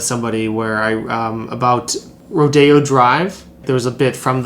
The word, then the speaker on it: Rodeo Drive: about like rodeo drive actually it's pronounced rodeo oh i know i know rodeo when i see it and that's that's rodeo drive and yeah that's i